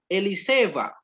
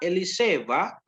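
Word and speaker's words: אלישבע: Ini dibacanya WH Eliseva. Nah, WH Eliseva Ahyantehi.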